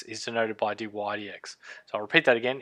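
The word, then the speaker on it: dy/dx: is the derivative is denoted by this is pronounced d y d x and so you would write d y d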